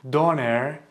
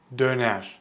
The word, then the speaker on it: döner: If you said something like Döner, it's incorrect. So the correct pronunciation is Döner. Döner. Döner. There are two mistakes people make with this word. The first one is they don't pronounce this letter correctly. They say O. They say do instead of dö.